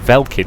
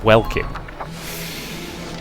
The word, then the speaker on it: Welkin: Why do I keep wanting to pronounce it Velkin, even though I know it's Welkin?